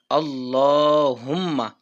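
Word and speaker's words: اللَّهُمَّ: তো যেটাই হোক না কেন এখানে আমরা পড়বো আল্লাহুম্মা।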